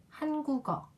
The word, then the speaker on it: 한국어: 한국어 한국어 라고 읽었어요 왜 그랬냐 하면은 여기 있는 이유 때문이에요 이 은 첫 장으로 올 때 소리가 나지 않잖아요 그래서 앞에 있는 기억이 이용 대신 소리가 납니다 국 어 라는 글자를